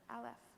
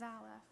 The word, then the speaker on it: Aleph: letter of the alphabet, Aleph. As some of you may know, Aleph is a silent letter, almost. You can see Aleph makes this tiny little sound that is the very beginning of every sound.